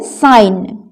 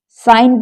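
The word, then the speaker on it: sign: साइन। साइन पर जी साइलेंट है।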